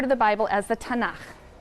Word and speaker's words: Tanakh: Tanakh, which is really the letters T, N, and Ch. And they put little A's in there to make it easy to pronounce, because is hard to pronounce.